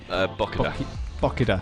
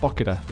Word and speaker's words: Bokida: Is that the proper pronunciation? That is right, isn't it, Pete? Bokida. Bokida.